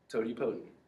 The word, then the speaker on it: totipotent: Totipotent.